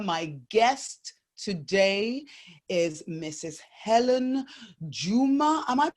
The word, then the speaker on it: Hellen Juma: Hellen Juma. Am I pronouncing that correctly?